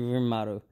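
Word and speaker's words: Rimuru: I cannot pronounce that. it's actually Rimaru.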